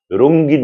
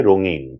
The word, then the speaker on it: রঙিন: একইভাবে রাঙা, লাঙল, রঙিন, সঙ্গীন আমরা রঙ্গিন বলতে পছন্দ করি, অথচ ভুল উচ্চারণ। আমাদেরকে বলতে হবে রঙিন, তারপরে আছে সঙ্গীন, ঝিঙে, ফেঙে, আঙুল ইত্যাদি, এমন করে উচ্চারণ করতে হবে।